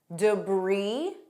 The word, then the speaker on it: debris: Debris. Notice it ends on E. Debris, debris.